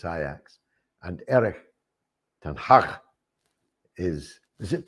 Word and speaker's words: Ajax: she was born and brought up in amsterdam pronounce his name properly for me they'll always be ajax but she always corrects me and tells me it's iax and eric is is it 10 hug 10